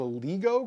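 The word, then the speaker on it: LIGO: from Earth uh the I believe it's pronounced the LEGO Group l i g o sounds good uh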